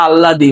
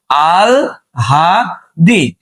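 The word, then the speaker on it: আহ্লাদি: জগুর বউ তাই না এবার দেখো এটার উচ্চারণ আল্লাদি না বাবা এটার উচ্চারণ কি বলতো আল হাদি ঠিক আছে তাইলে এটার উচ্চারণ আল্লাদি না হবে কি আল হাদি এবার দেখো এটার উচ্চারণ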